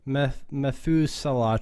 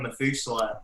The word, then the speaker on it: Methuselah: So I don't know if I'm going to pronounce this right, but the Methuselah tree, is that Methuselah? Yeah, Methuselah tree.